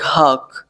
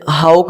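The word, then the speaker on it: hawk: ऐसे fawn, F ए डब्ल्यू N, fawn, H ए डब्ल्यू एक, हाक। इसे हाउक नहीं पढ़ते, इसे हाक पढ़ते।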